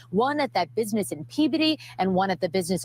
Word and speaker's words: Peabody: I know it's not Peabody, it's Peabody. Peabody. It's how they pronounce it, I believe.